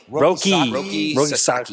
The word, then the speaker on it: Roki Sasaki: Roki Sasaki.